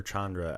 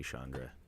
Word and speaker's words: Chandra: Is it Shandra or Chandra? I think I said Chandra by accident, but I think it's supposed to be Shandra.